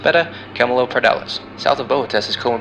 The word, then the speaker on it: Beta Camelopardalis: Cabelopardalis' brightest star is pronounced Beta Camelopardalis.